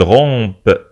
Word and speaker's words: rompent: son jeûne جميل هم ils rompent ننطق P ils rompent ونكتب romp P-E-N-T ils rompent leur jeûne